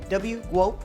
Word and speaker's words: GWOAT: Is it GWOAT? Is that how it's said? Yeah, like GOAT, but GWOAT, yeah.